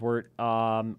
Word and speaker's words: wort: The Wort, a podcast, spelled Wort, pronounced Wort, Instagram, Twitter, Facebook, Mike and Pete, search it out.